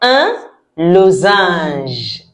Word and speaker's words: losange: We say z because in French, when we have one s between two vowels, it gives a sound z.